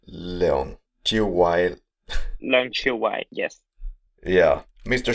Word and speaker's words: Leung Chiu-Wai: Maybe you have to help me with the pronunciation. So it's Leung. Chiu-Wai.